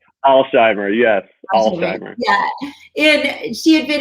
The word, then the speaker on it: Alsheimer: how do you say your last name alzheimer's alzheimer's yes and she had been in your class